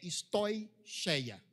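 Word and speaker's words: στοιχεῖα: Tudo isso, lembrei a pronúncia correta, a pronúncia correta é stoicheia.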